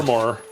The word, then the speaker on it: Fermor: Fermor.